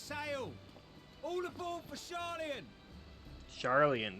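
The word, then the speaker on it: Sharlayan: Charlian, that's how you pronounce it.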